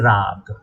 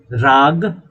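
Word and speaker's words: raga: and this attachment is raag raag the last a is silent the last letter a is silent what is raag attachment attachment to pleasure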